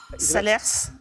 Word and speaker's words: Salers: un village du Cantal Salers exactement bonne réponse alors certains prononcent le S d'autres pas en la matière peu